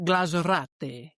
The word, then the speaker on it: glazurate: But glazerate is the Romanian word for glazed. It's pronounced glazurate.